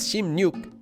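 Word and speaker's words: 십육: be Russia be yuksom you remember that 16 is pronounced as shim nuke even if there's another number before it cheers ship cheer pi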